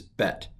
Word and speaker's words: bet: it it's pronounced ba when the bet does not have a dot in it it's pronounced the so the second letter of the hebrew alphabet is bet aleph bet all right